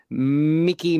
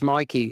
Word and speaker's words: Mikey: use that on trains sorry it's it's Mikey is it okay Mikey apologize Mickey there's no C sorry about that um I apologize Mikey Mikey Madison for Anora